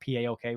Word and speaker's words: PAOK: loan to Greek side poke or paok whichever way you want to pronounce that since coming back it's